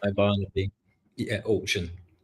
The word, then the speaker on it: Orkun: Yeah, Orkun. Orkun.